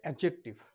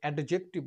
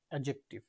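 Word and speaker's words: adjective: Noun, pronoun, অ্যাডজেক্টিভ, আচ্ছা এটা উচ্চারণ হবে অ্যাডজেক্টিভ, আমরা অনেকে অ্যাডজেক্টিভ বলি, বাট অ্যাডজেক্টিভ, verb, adverb, preposition, conjunction and interjection.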